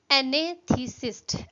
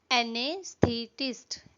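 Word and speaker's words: anaesthetist: Okay, next word है हमारा एनेथीसिस्ट। एनेथीसिस्ट, एनेथीसिस्ट चेतना शून्य करने वाला। हिज फादर इज एन एने, इसकी प्रोनाउंसिएशन पे थोड़ा सा ध्यान दीजिएगा। एनेस्थेटिस्ट, एनेस्थेटिस्ट specialist in a government hospital.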